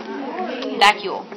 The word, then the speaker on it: vacuole: Vacuole. Okay, it's either a vacuole Like vacuum, but vacuole.